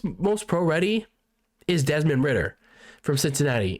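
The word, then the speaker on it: Ridder: desmond ritter from cincinnati now i thought this his actual name was uh pronounced writer you know desmond ryder i don't know it there's there's a double d in his last name so anyway desmond ritter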